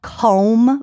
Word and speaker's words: Comb: better there's a company called com vodka c m b like honeycomb and and that's made